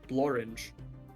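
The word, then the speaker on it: Blorenge: you know I found something that rhymes with orange the other day door hinge no blor it's a real thing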